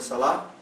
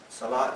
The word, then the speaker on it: Salah: is the call to the prayer that we pronounce every time before the Salah Salah is the prayer uh in Arabi s a